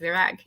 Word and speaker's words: Virag: Welcome, Virag. I want to make sure I'm pronouncing your name correctly. Did I say it right? You really nailed it. Yes, Virag.